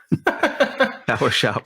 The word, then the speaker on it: PwShop: How do you pronounce it? PwShop. PowerShop? That probably makes more sense. PowerShop. Sure.